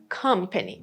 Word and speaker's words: company: Because the stress is on the first syllable, you don't have the schwa sound on the first syllable. It is company.